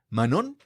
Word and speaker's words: Manon: Hoy tenemos aquí a la doctora Manon, con acento en la O, con la fuerza en la O.